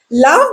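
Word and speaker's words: laugh: क्या आप जानते हैं इंग्लिश में जी एच कभी फ होता है, कभी साइलेंट और कभी कुछ भी नहीं। लाफ भी उसी से बनता है।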